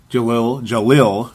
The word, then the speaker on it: Jahlil: That doesn't mean I'm right, because, yes, Jahlil, as now I'm saying it correctly, Jahlil Okafor does have the ability to score at a very, very high rate.